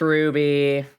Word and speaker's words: RWBY: crowd is it not is it RWBY is it not Ruby it's Ruby oh okay I don't watch it so I say it like a weirdo it's pronounced Ruby Nico said I don't